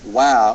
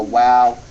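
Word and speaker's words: Waw: to pronounce it or call it wow and pronounce it like a w throughout basics of Biblical Hebrew in these lectures we prefer the W sound or the wow form of the letter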